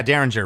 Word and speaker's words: Derringer: Is it pronounced Derringer? Okay. Yeah, Derringer, Rick Derringer.